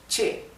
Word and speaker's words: ch: mentioning it here but CH as a letter was pronounced or read che che why because CH has a